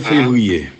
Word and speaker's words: Février: Numéro 17, Pierre-Paul Février. Pierre-Paul qui? Février, comme le mois février.